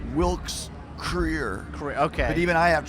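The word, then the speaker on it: Krier: First off, because they do get this wrong sometimes, full name Andrew Federley Wilkes Cryer. Yes, that is correct. It's pronounced Creer. Wilkes Creer.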